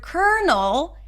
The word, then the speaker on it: colonel: There is no L because in the word colonel there is an R sound. And yes, I know it's weird, but that's the only word in English that is spelled with an L, but pronounced with an R.